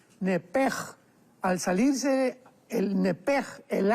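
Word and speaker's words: נפש: porque es la palabra nepesh con sh al final. Neph. En el hebreo se pronuncia eh la sh con j. Entonces, la pronunciación hebrea es nepej.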